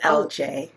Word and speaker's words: Elle Jae: And this happens all the time, but uh the correct pronunciation is L is LJ.